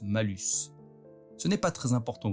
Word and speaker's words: malus: en latin, alors que le mot mal se prononce malus.